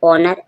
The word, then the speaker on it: honour: ऑनर, ऑनर means सम्मान, HONOUR, यहाँ पर ऑनर एच साइलेंट है।